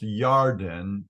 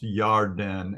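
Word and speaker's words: ירדן: And Lot lifted his eyes and saw the plain of Yarden, the Jordan River. The word, it's pronounced Yarden in Hebrew because there's no J sound.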